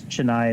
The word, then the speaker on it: Chennai: Yeah, I guess it's Chennai is how you pronounce it.